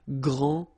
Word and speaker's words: grand: You don't pronounce the final D, you don't the D here, and you don't pronounce the final S. Okay, so grand, and then same thing here, grand.